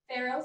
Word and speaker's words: farro: starting off with a pharaoh salad pharaoh like pharaoh from the egypt towns pharaoh how do you